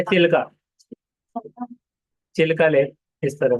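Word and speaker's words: Chilika: चिल्का। चिल्का lake इस तरह से। ये देखिए प्रोनाउंसिएशन चिलिका इस तरह पढ़ना है।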